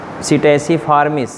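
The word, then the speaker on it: Psittaciformes: Class Aves, class Aves, order सीटेसी फार्मिस, spelling में बोल रहा हूँ, PSI TTACI FORMIS, सीटेसी फार्मिस।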